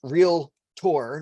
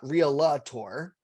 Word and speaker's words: Realtor: 19:20:32 And, by the way, it's pronounced real tour, not real law tour, which is always funny to hear, because people like to stick that A in between the L.